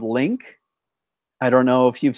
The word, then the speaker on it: LingQ: LINGQ Link. LINGQ Lingq. Q. Lingq. Link Q. Yeah, pronounce it in English. It's Link.